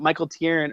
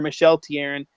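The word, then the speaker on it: Michel Therrien: that skill set that Michael Tierin or Michel Tierin is not doing. And I don't say Michel because make a sexist joke. That's actually how his name is pronounced.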